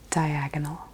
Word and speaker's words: diagonal: Make sure you get the L at the end. Diagonal.